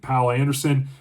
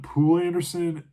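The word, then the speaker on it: Poul Anderson: I actually started The Broken Sword by Pal Anderson. Now I first started calling him Pul Anderson. I found online. I think it's pronounced pal Anderson, like foul but pal.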